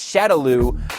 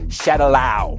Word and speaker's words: Shadaloo: me the most was the way characters would pronounce shadaloo bison's criminal organization as Shadow an organization called shadow shadow shadow shadow shadow shadow I